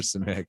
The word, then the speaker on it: Simek: Help me with the pronunciation, because she told me, and I. No, you got it. You got it. It's Simek.